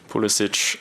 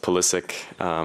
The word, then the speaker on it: Pulisic: of view but obviously growing up in America it was always pronounced pulisic so that's just what I'm used to but both I'm very much okay with pulisic you know they said